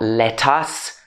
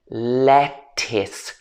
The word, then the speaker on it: lettuce: next one is lettuce this is not lettuce it should be lettuce lettuce next one rural